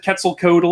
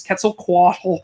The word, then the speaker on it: Quetzalcoatl: say it's quitsel poshtali i said quetzalcoatl he said it's quetzalcoatl it was so it happened